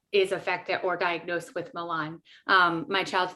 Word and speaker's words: Malan: Her name is Brandi, and she's actually going to talk to us about Malan syndrome.